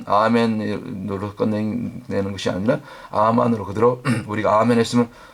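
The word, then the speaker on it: אמן: 아멘으로 끝내는 것이 아니라 아만으로 그대로 우리가 아멘 했으면 원래 아멘의 발음 히브리어 발음이 아만 아만으로 살아내는 단계까지 순종의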